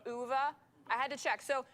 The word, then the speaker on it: Ove: you guys it is a man called UA UA is it UA or U UA apparently Eric and I were checking I think that's the correct pronunciation UA I had to check so this is a